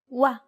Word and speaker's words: و: ط ط ط ط The next consonant is و ورد أسود وجه It's identical to the W in way or word.